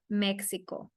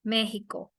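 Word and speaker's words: México: For example, in the word Mexico, right? Mexico. In this case, it will sound like a letter J.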